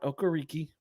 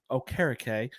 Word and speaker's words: Okereke: Okereke. Not Okariki, Okereke, which is apparently the correct way to say his name.